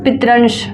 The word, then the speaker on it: पितंश: पितृ जमा अंश बराबर पितंश तालव्यश है शुद्ध उच्चारण पितंश ठीक है ल जमा आक्रांत बराबर सॉरी ल